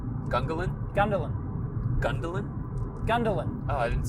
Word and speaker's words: Gungahlin: And Gungalin's on the. Yeah. Is that how you say it? What? Gungalin. Gungahlin. Gungalin. Gundahlin.